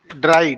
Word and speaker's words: drei: ड्राई, fear, आई ई है तो fear हो गया, ठीक है। ई आई है तो ड्राई हो गया, ई आई है तो स्वाई हो गया।